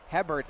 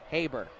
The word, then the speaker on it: Hebert: mean a mistake early I pronounce his name Hobart instead of Hebert sorry about that folks